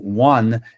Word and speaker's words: one: E esse one não começa com o na verdade, caras, pros falantes de inglês, esse o que vocês estão vendo aqui, ele tem do one, ele tem o mesmo som do woman.